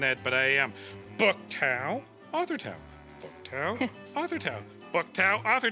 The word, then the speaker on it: Thao: Book Tao, author Tao.